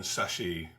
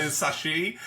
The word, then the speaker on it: chassis: Okay, Demios or Mars Pattern Chassis? Oh, sorry, chassis. By the way, we do need a compilation of all of the times that we say sashie and fucking up the pronunciation of sashie.